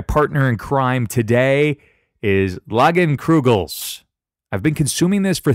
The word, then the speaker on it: Leinenkugel's: both events My partner in crime today is loggin crew gel's I've been consuming this for 3 years and I still can't pronounce the damn name le I n en